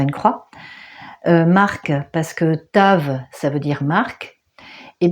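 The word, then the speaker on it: תו: Alors voilà comment ça s'écrit Tav, ça se prononce comme ça, Tav ou Tao.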